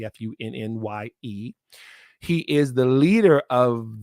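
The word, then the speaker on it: Funnye: Looks like it's spelled funny, Funye.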